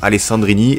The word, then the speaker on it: Alessandrini: On va le prononcer comme ça s'écrit. On va dire Alessandrini.